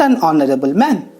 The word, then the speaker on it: honorable: Even if it is a consonant letter, but it sounds like a vowel. We pronounce it like a vowel. So, we will use the article an. The answer is, he is not an honorable man.